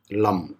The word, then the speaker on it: Lam: For Mooladhara, you always use the syllable Lam, L-A-M.